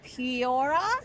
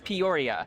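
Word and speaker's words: Peoria: Pora. Poria.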